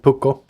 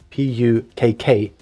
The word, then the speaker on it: pukko: Like we have a cat called Pukko in Finnish. That would be P-U-K-K-O. Pukko, because the K is extra hard.